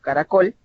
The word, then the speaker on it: caracol: Y si ustedes se fijan en esta palabra, caracol, es una palabra aguda que no termina ni en N, ni en S, ni en vocal. Por lo tanto, la regla general es que no debe de acentuarse.